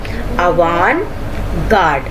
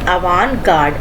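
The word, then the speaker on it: avant-garde: तो इसका जो करेक्ट प्रोनाउंसिएशन वो है अवान गार्ड। The correct pronunciation is अवान गार्ड।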